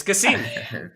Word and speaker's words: Gasim: let's go i'm so scared of pronouncing your name wrong it's casino don't worry about it before and now before